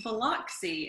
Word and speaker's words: Biloxi: Yeah, it's Biloxi, and I don't know why people can't say that word, but yeah, my agent has never been able to pronounce it. I'm just like, I'm like, Lux, L-U-X.